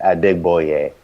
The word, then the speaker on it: Adegboye: for but that's how you pronounce my original last name it's at dig boy yay Oh change changed it